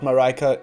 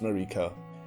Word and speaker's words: Marika: Yes, not Marika.It is pronounced Marika.